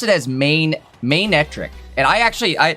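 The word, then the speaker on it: Manectric: he pronounced it as mainetric and I actually I like that I used to just call it manetric like monetric but mainetric makes way more sense like a main like a lion's mane cuz like it looks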